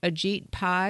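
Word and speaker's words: Ajit Pai: the FCC and I believe his name is pronounced AET Pi is that right that's right yes and he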